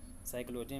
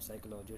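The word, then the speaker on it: psychology: में P silent है साइकोलॉजी में पी साइलेंट है इन तीनों को आपको अच्छे से याद करना ठीक निमोनिया है शाम है और साइकोलॉजी ठीक है आगे बढ़ते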